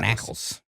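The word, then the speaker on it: Naacals: called knackles a what knackles okay n a a c a LS Knack knackles that is how I heard it pronounced when I looked it up so they had some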